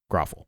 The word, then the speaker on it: Grauffel: speak I've realized that I have been pronouncing his name wrong and I think everybody I know has been but it's gruffal that's the way he pronounces it so I will try